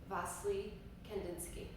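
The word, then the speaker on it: Wassily Kandinsky: pronounce this guy's name so i'm just going to go with this one vastly kendinsky maybe some people aren't agreeing with me i'm so sorry but i've heard it pronounced that way so i'm going with that one i like that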